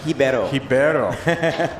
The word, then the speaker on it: Ribeiro: done all right carlos ribeiro coming out of brazil yeah he actually schooled me on the pronunciation of his last name it's pronounced hibero yeah the uh the r becomes an h in brazil what switch front board